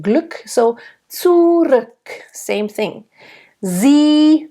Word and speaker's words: Sie: Sie, nice closed E. Sie, and nice voiced S.